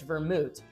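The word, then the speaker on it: Wermut: in English but actually in French it's vermouth so a little different and then in German it's vermut and that is German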